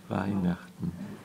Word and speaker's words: Weihnachten: ¿Y cómo se pronuncia? Weihnachten.